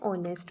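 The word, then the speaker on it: honest: For example N आर, एन ऑनेस्ट मैन, N honourable man.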